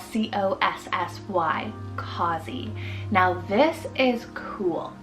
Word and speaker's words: Cossy: Then for the boy side, I have Cossy, spelled C-O-S-S-Y, Cossy.